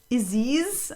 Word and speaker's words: Isis: It's but pronounced Aziz. Actually, that has also a bad backstory nowadays, thanks to Aziz Ansari. But how about I see the S is silent.